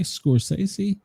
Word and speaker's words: Scorsese: Martin Scorsese, say it right, Scorsese.